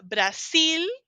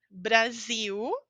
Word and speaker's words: Brasil: Termina em L, pronúncia de U. Se você fala Brasil, é espanhol. Brasil é português.